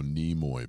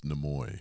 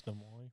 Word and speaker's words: Nimoy: Leonard Nimoy is how you pronounce that. Everybody wants to go Nimoy, but it's Nimoy. It's Nimoy.